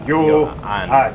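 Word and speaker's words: Ioan: Because in everything that we get, it says in brackets, pronounced yo and.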